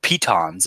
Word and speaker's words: piton: use some hammer and Pitons or Pitons as I've learned is their actual pronunciation to etch in these